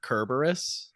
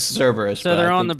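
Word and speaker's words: Kerberos: to your face but isn't it kerberus that's what that's really pronounced I was I was pronouncing it as Cerberus called Jorge and so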